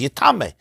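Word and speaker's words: יטמא: And Rabbi Akiva learns yitma should be pronounced as yitame.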